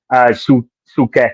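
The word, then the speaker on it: Souček: Sukek is on. What's his name? Shutet. How do you pronounce his name?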